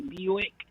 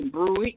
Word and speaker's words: Buick: If you teach him the right way to say Buick, I'm pretty sure he won't say Bruick anymore.